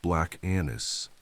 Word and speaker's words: Black Annis: This is the tale of Black Anis, pronounced Black Anis, an ancient figure of shadow and soil.